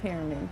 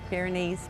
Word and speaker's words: Pyrenees: White pyramid. What? Pyramid. I think that's how you say it. White pyramid. Mm-hmm. Okay. Pyrenees. Pyrenees. It's Okay. Pyrenees. White Pyrenees.